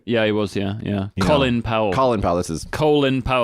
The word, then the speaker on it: Colin Powell: Colin Powell. Colin Powell, this is... Colin Powell. They call him Colin. Colin Powell. Colin Powell. Sorry. Not Colin, as it's spelled.